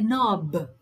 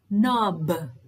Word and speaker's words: knob: used to have a knob knob notice that the k is silent the knob yes you